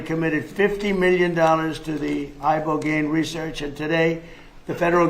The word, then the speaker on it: Ibogaine: In 2024 study from Stanford University, 30 special operation veterans with traumatic brain injuries underwent It's called ibogaine treatment. Ibogaine. Remember the name. Is that pronounced relatively properly, would you say?